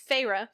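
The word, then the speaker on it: Feyre: I was gonna say Fair because Alexa pronounces it Fair. It's okay, Farah. but it's Farah.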